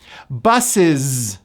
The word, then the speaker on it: buses: Buses. The last letter is an S, but it's pronounced as a voiced Z.